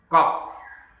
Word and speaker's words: cough: अब देखिए GH जो है वो F की आवाज़ निकाल रहा है, कॉफ कॉफ।